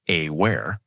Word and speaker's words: AWare: Their flagship platform is AWare, pronounced AWear. Think of it like an operating system for AI.